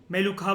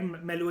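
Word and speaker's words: मेलुहा: मेलुखा बोल रहे हो, मेलुआ बोल लो, कुछ भी बोल लो, मेलुआ वैसे राइट, मेलुआ ही होता है प्रोनाउंसिएशन।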